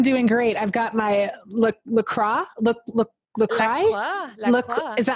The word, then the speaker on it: La Croix: I've got my LaCroix. Is that how you say it? Oh God, you say it fancy. La Croix. It's like croissant, but you don't pronounce the X, so La Croix.